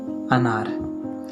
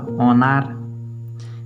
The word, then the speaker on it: अनार: क्योंकि इससे बनता है अनार। जो लोग इसको ओ पढ़ेंगे तब तो इसको पढ़ना पड़ेगा ओनार। क्या ये ओनार है या अनार है? अनार है।